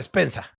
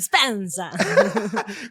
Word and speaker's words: Spenza: ¿Lo pronuncié bien o no? Spensa. Espectacular, Sí. perfecto, salió muy bien, al italiano, bien italiano, Spensa.